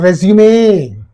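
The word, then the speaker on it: résumé: It's also called resume. Resume, not resume, resume. Pronunciation is resume.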